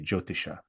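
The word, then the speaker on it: jyotisha: i so of course in English you'd say joe as in the man you know joe and then t i shish would be the you know transliterate version but yeah it's spelled j y o t i h a jotisha right and so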